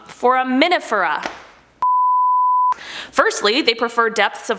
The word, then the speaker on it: Foraminifera: Okay, Foraminifera.